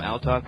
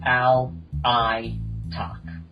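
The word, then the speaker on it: Alaitoc: Ali Talk. My bad. Um from what I listen to when ForgeWorld pronounced it, um they pronounced it all I talk.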